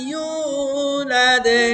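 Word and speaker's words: يُولَدْ: লাদো না লাদে? কলকলা, দালের কলকলার নিচের দিকে চাপ দিতে হয়।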